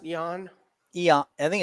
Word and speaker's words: Ion Cuțelaba: Is it Jan? Is it pronounced Jan? Eon.